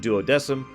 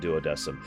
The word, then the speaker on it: Duodecim: let's not get into Latin pronunciations here they pronounce it doesm so I will pronounce it doesm this is also the game that taught me